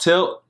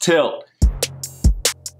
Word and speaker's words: TYLT: what's that Chucky oh it's pronounced tyll tyll sorry is pronounced tilt what's going